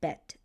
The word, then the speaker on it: Bet: So something you should know that the letter when it makes a B sound, it's pronounced the name of the letter is pronounced bet.